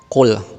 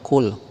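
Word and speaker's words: قل: Nih sering udah Bapak bilang dan sudah sering Bapak jelasin, qul qafnya besar, jangan kul ya, harus qaf besar.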